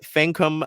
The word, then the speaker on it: Fankam: pronunciation guide uh Nolte fancum mengiadu say with me Dulce can come like f-a-n come c-o-m-e men G ah do